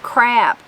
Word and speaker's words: crop: would be assured of a good crop pronounced crap by us but a lot more